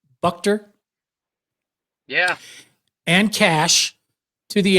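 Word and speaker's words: Buchter: Brandon Moss left-handed pitcher Ryan how do you pronounce his last name bucker yeah and cash to the A's for Heath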